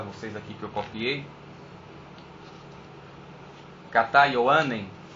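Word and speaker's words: Κατὰ Ἰωάννην: aqui que eu copiei, Kata Ioanen, que é a pronúncia no grego, que quer dizer segundo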